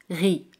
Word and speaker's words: riz: Por ejemplo, arroz, le riz. Le riz. Le riz. Z al final no se pronuncia.